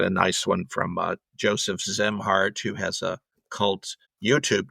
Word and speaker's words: Szimhart: His last name is spelled SZIMHART. SZ. So it's a Zemhart.